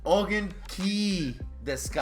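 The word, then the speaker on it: お元気ですか: Ongen. Deska? You're missing one syllable. Ongen deska. I'm stumped. Ongen ki deska. Ongen ki deska. Fucking knew that. So, ongen ki deska. That's how you say it, and it means "How are you?"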